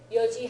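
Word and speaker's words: 四時: Yoji han means 4:30. And again, that's a special pronunciation, right? Yo instead of yon is special to time, yoji han, and a couple of other instances, but just rare ones.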